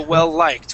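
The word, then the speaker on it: well-liked: start connecting words okay so well liked when you have a word that ends with an l and starts and the next word starts with an L we connect okay it becomes it becomes a a one word all right um and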